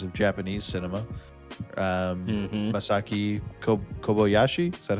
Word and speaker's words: Kobayashi: hmm Masaki Kobayashi. Is that how you would Yeah, say it? Kobayashi. Kobayashi is Kobayashi.